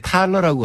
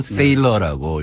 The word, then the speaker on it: Thaler: 먼저 THALER인데 우리나라에서 이렇게 번역이 나올 때 탈러라고 한 데도 있고 세일러라고 이렇게 발음한 것도 있는데 이분이 독일 출신이에요. 그러니까 아마 집안에서는 탈러라고 부를 것 같아요. 탈러. 네. 그래서 이제 미국에 사니까 미국에서 커서 살아니까 이제 사람들이 전부 세일러라고 부르니까 세일러라고 부르는 게 이제 맞을 것 같고요.